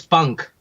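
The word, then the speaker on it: Punkh: give me the pronunciation it's funk okay but in Hindi would mean rings you know that's the direct translation so and and you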